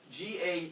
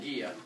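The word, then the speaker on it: Gea: went one okay okay Gia G EA not pronounced G even though I'm sure that makes you giggle it was pronounced Gia and Gia raise your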